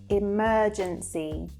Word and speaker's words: emergency: So if you can hear the way I'm saying that, emergency. So again, we have the soft R sound and it's slightly elongated, as opposed to American